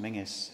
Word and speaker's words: Menzies: This is the portrait of John Menzies, or pronounced Mingus, in this part of the world.